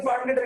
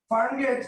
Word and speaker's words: Farmgate: But mind it, এই যে দেখেন GATE, দ্যাট মিন্স গেটি, উচ্চারণটা কি হইছে ফার্মগেটি, but this is নট ফার্মগেটি, this is ফার্মগেট। So that means এটার উচ্চারণ হবে FARMGET, ফার্মগেট।